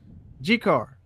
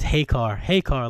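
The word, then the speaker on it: Jecar: G-Car. J-Car. I've always wondered how that's pronounced. So. Me too. What? Either way. G-Car? Yeah. J-E-C-A-R. It's Hey-Car, like, Hispanic.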